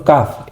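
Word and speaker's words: كاف: Nah, yang selanjutnya adalah huruf kaf. Ini lebih ringan sama seperti pengucapan huruf fa. Jadi, kaf kaf kaf jadi ringan.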